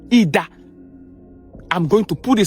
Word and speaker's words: Idah: He should gain access through a town called Idah.